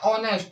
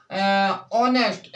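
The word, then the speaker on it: honest: उच्चारण दे रहा है ऑनेस्ट, यानी कि इसमें क्या है, एच होता है वो इसमें ऑनेस्ट यानी कि ओ, यानी ओ का उच्चारण है इसमें, तो इसीलिए हम इसमें एन लगाएंगे स्टूडेंट्स।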